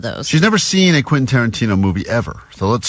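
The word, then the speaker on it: Quentin: Vanessa has never seen a Quinton Tarantino movie and she's never successfully pronounced Quinton Tarantino. That's true. all week as she's been talking about this prize we have. She's been saying quasa quint quainton quinta. So we're like what you talking about quantino still?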